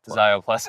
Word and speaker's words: Szio+: Zio plus. Okay, great. Uh the S is silent.